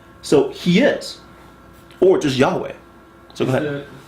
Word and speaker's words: Yahweh: Why do we know it's Yah? Because hallelujah. Right? Eliyahu. All those Yahs showing up on all those names. Okay, so Elijah, Eliyah. Those Yahs tells you the first syllable of God's name is Yah. The last part we're not sure.